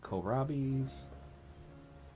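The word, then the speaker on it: kohlrabi: Then we need to get a firm going and have them plant uh korabis, which it wasn't until I started watching videos on Timberborn that I actually figured out that's how you pronounce it.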